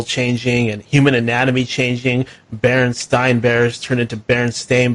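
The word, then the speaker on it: Berenstain: wrong because I I it just didn't look the way that it was being pronounced. And I remember being told, "No, no, we say Baronstein, but yeah, it looks like, you know, looks like this."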